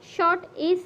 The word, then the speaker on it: short: শর্ট, SHORT শর্ট। বাট আমরা কি করি, শর্টে যখন আছে আমরা যখন বলি তখন আটটা কিন্তু সাইলেন্ট থাকে। এই হচ্ছে আটটা সাইলেন্ট থাকবে।